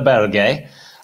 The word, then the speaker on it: Berge: I call him Sander Berge, but Sander Berger is what everyone else calls him. The reason I call him that is because that's how his name's actually pronounced.